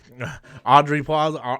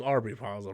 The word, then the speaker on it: Aubrey Plaza: Audrey Plaza? No, it's Aubrey Plaza, right?